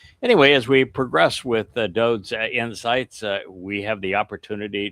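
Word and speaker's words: דוד: So once again, this is of Dowd. If you're unfamiliar with that pronunciation, the fact is that Dowd's name is written as DWD, Daleth, Wah, Daleth.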